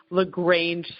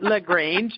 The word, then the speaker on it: LaGrange: Anderson's book in Chicago the lagrange store and i'm pronouncing that correctly not like all the great lagrange I would school by